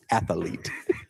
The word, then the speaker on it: athlete: I don't think it's pronounced that way. You're not adding syllables. Athlete. Okay.